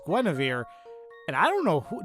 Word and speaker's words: Guinevere: Genevieve? Oh my god, now I can't remember how it's actually pronounced. Guinevere. Excuse me, it's Guinevere.